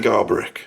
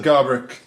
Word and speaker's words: Garbarek: Jan Garbarek, that's how you say it. Is it? Jan Garbarek. I say Garbarek.